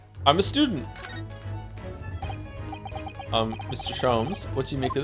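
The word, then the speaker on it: Sholmes: Shoms is pronounced the same as JHS. Shoms. Herlock. Shoms.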